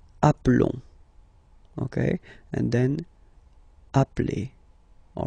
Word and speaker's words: appelle: You tend to pronounce it like a, really open.